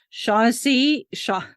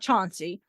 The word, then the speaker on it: Shaughnessy: a large Edwardian house Shaughnessy Shaughnessy it's not Chauncey uh not even spelled the same way Shaughnessy is named after